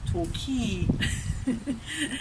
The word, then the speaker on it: Torquay: sounds together you and the stress on the second syllable so if you're coming here you fly into the UK and Heathrow remember you're going to talk key so you can pronounce